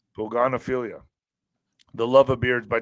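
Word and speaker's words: pogonophilia: wider outbreak of of Poganopilia. Love of beards. I don't know if I said that correctly. Pogan affiliate. How do you say that, Alex? Poganilia. Where is it? Love of beards. P O G O N O P H I L I A. Oh yeah. Poganophilia. Yeah.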